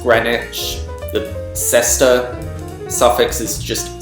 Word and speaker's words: Greenwich: British place names like Greenwich is pronounced Greenwich the sester suffix is